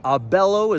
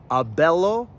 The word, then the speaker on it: abelo: Now, I've said that you always emphasize the second to last syllable in a word and that's still true. This does not shift that stress. Just because you don't see the o, doesn't mean it's not there.